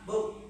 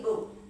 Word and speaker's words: book: Apakah bo atau boh? Bukan ya. Cara mengucapkannya adalah book. Bit me. B book bukan bu ya. Bukan bu. Bukan ditekan Bu tapi book.